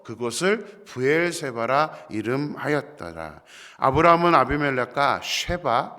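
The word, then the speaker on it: שבע: 히브리어로 7은 쉐바라는 단어입니다. 그리고 맹세하다는 단어는 샤바라는 단어입니다. 둘 다 같은 단어입니다.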